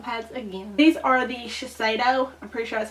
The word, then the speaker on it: Shiseido: to regular cotton pads again these are the Shiseido I'm pretty sure that's how you pronounce it facial cotton and delivers moisture with